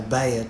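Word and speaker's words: Bhaer: at his horrid name it isn't pronounced either bear or beer as people will say it but something between the two as only Germans can give it I'm glad you both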